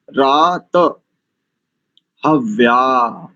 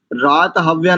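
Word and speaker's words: रातहव्या: शन इंद्रा वरुणा रात रात ह्या रात हव्य नहीं करेंगे देखो फिर से मैंने कई बार बोला रात ह्या शम सोमा सुविता सुवि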